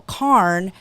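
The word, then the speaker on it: cairn: looked down and he had built this beautiful k if you look it up it's spelled c a i r n and uh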